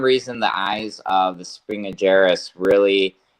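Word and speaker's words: spinigerus: Okay, so essentially, when the first Australian gecko I got were Strophaeus springillaris. Is that how you say it, Jason? There's actually Spinageris.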